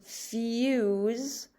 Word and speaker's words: fuse: a couple days ago, if the word ends in an E, the E is silent and it makes that letter a long sound. So in the word fuse, we hear the long U vowel sound.